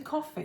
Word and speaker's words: Ko-fi: I never know quite how to say it. It is like it's a coffee.